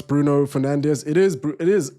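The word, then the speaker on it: Bruno Fernandes: Uh, regulated screen says, "What's the correct way to pronounce Bruno Fernandez?" It is. It is. I think it's like Bruno Fernande like but imagine a Portuguese accent.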